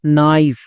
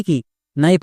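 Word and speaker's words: knife: এর জন্য ফো এবং শেষে ই আছে, ই সাইলেন্ট মানে উচ্চারণ করতে হয় না। তাহলে কি হলো? নাইফ। নাইফ মানে কি? নাইফ মানে হচ্ছে চাকু। একে আমরা ভুল করেও কে নাইফ বা কো নাইফ এরকম উচ্চারণ করব না, কারণ এখানে কেটা সাইলেন্ট।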